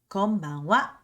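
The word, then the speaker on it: こんばんは: Then we have good evening, konbanwa. Again, the same rules applies. Even though it's a ha, we're gonna pronounce it as a wa.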